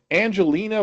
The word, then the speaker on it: Angelina: This is Angelina with a hard G.